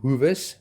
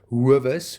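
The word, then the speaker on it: Hoewes: to stay in the Hoovers um that is pronounced huas a lot of people pronounce it as hus which is incorrect the Hoover a Hoover is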